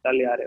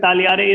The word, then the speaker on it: tagliare: Why over here tagliare is silent? Because tagliare ke saath G and a consonant is followed. Okay. G ke baad L is there, right? That is why it is silent.